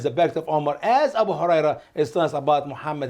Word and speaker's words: Abu Huraira: Abu Huraira. Abu Huraira is one of the great, wonderful Muslim scholars too.